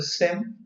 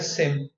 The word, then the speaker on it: SIEM: information event management uh it all depend in which part of world you are and how you are pronouncing so the pronouncing varies some call as a SE uh someone call as a Sim but yeah I'm calling it as a Sim so so it's a